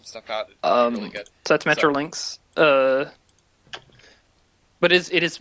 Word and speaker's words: Metrolinx: out really good that's metrolinx uh but it is it is pronounced like the animal mutual links uh it's